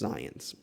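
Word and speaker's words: Zajonc: what a name um spelled that way and pronounced zions zions took until 1969 nearly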